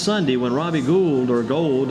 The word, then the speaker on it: Gould: It was in the game last Sunday when Robbie Gould, or Gold, they pronounce it Gold.